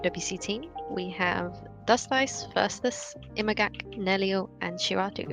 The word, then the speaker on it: Dustice: Yeah, so my name is Dust Ice, but I guess now I'm more known as Dustis, and I used to care that it's pronounced Dust Ice a few years back, but now it's kind of, it's Dustis anyway.